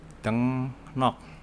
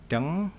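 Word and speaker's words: 등록: Ada lagi misal dengnok. Tulisannya ini dengrok tulisannya. Ini artinya registrasi atau pendaftaran. Ini secara tulisannya dengrok. Tapi kalau dibaca menjadi dengnok, di mana R-nya berubah menjadi N.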